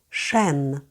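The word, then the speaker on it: chêne: Серж лютанс наз продовжуємо шен шен перші дві літери завжди дають ш не путаємо з англійською мовою над строковий знак сркомфлекс це тільки звук е шен дуб так називається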